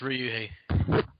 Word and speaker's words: Ryuhei: But basically this month, we're going to be doing 2000s Versus by, is it pronounced Ryuhei Kitamura? Yeah, it's Ryuhei. Okay, so Ryuhei Kitamura, it's his movie, and it's a 2000 action, horror, sci-fi, fantasy film.